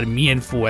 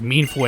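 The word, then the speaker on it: Mienfoo: And by the way, yes, it's actual pronunciation is meansho, not mesh or mianfu as people like to call it.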